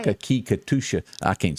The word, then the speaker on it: Natchitoches: Nakakikatusha. I can't say that. Nakitush.